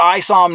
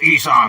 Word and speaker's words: Isom: Looks like we got Isom Knox in the back room. Isom Knox, welcome to the show, my friend. What do you have to say for yourself? It's pronounced Esom, you hoe-ass cracker.